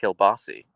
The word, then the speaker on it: kielbasa: In Pittsburgh they pronounce it kielbasi. I have no idea why they spell it kielbasa, but they pronounce it kielbasi.